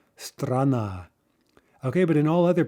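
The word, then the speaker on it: страна: it's in the syllable directly before the stressed syllable right so strana strana okay but in all other positions right after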